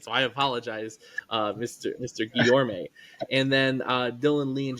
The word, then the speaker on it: Guillorme: Guillorme. I just want to say Guillermo. That's a name that I've heard before, and so my brain does not let me say it. So I apologize, Mr. Guillorme.